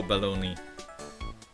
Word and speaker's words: bologna: the good one pan bolog rhyme wait what pony in Bologna what don't tell me that bolog is pronounced o balone wait I thought